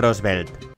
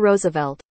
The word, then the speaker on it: Roosevelt: es algo número seis theodor rosevelt Bueno creo que no se dice así theodor Roosevelt Bueno pues eso número